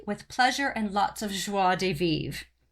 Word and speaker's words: joie de vivre: pleasure and lots of joie de vivre i'm sure i'm not pronouncing that right but i'm trying no you nailed it really we used to say joy de we got corrected on that one yeah people were like